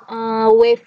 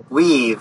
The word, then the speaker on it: weave: Bisa dua-dua Mbak, wave ini. Weave. Oh, bacanya weave.